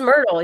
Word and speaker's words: Myrtle: to say it what myrtle myrtle yeah that's right first yeah he says myrtle yeah he confirmed it myrtle it rhymes with myrtle well when i first saw it almost like marital or you know so i could see where people would mess that one up not mentally just yeah